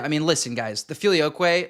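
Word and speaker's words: Filioque: I mean, listen guys, the filioquay, like Filioquay literally like rhymes with gay.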